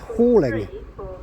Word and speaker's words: Halling: for us I said helling it's actually pronounced hauling so hauling will be our next